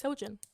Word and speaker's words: Seljan: i call you because you can't pronounce my name properly it's it's celgen my mom doesn't even call me sergeants literally either cell or pineapple oh so because the way i say it's like seljan it's like that's the way